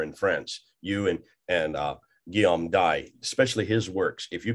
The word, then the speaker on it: Dye: And we shall do that. We shall do this. Guillaume D, or you can pronounce Dye if you want, but French it's the way it's supposed to be.